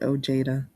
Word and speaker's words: Ojeda: He pronounces it Ojeda, because he's Americanized, gringoized.